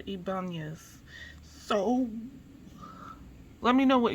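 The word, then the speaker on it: Ibañez: I'm trying to make sure to pronounce the ning. So Ibanez.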